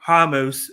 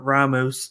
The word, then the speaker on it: Ramos: the men's featherweight up we had a ricardo hamos yeah it's pronounced hummus instead of ramos i'm gonna say ramos i don't give a